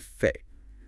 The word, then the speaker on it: fait: Consider French spellings like mais, but, and fait, fact, both pronounced ending in an A, the final S and T are silent relics.